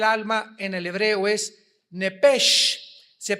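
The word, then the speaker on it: נפש: apúntalo ahí, el alma en el hebreo es nepesh, se pronuncia nepej.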